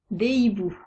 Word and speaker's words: hiboux: ou un x finale ces deux lettres ne se prononcent pas des amis des loups des hiboux noter que hibou à deux lettres muettes le h et le x les verbes à la